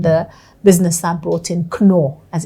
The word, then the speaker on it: Knorr: It's Knorr. That's how you pronounce it, Knorr.